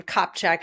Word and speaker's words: Kopczyk: And I have a crazy last name, Kopczyk. It's spelled nothing like it sounds.